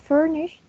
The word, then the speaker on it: furnished: Then we have furnished, which has 2 syllables and the stress is in the first syllable.